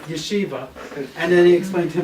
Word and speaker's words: Yeshiva: he pronounced yesi he said no no it's pronounced Yeshiva and then he explained to him what Yeshiva